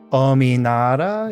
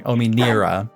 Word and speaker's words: Ominira: Ominara is Ominara. Oh, we spelled it right. Let's go. it's Nira. Oh, Nira. Sorry, Ominira.